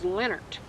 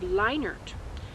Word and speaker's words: Lienert: When we lived in Nebraska, we were all known as Lienert. Lienert, not Lienert or Lienert.